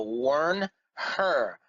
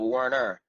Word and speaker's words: Wernher: H in it now his first name is now worn her worn her instead of Warner Werner von Braun and